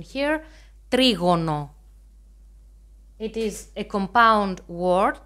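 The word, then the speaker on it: τρίγωνο: The first shape, as you can see, is the triangle, trigono. I have the pronunciation here, trigono.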